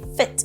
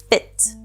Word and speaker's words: fit: In the word feet we have a long E sound. This means that when we pronounce the word fit, we use the short ih, fit.